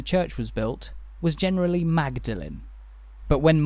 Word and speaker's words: Magdalen: pronunciation when the church was built was generally magdalin but when melin College was founded a few centuries later the common pronunciation had become melin the original way to